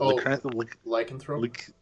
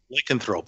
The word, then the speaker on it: Lycanthrope: How do you pronounce that? Lycanthrope. Lycanthrope.